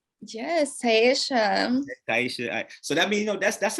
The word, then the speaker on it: TAI'AYSHA: TAI'AYSHA. Yes, TAI'AYSHA.